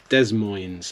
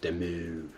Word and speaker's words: Des Moines: Des Moines, that's a good name. I always like the name Des Moines. Is that how it's pronounced? It's probably pronounced Demu.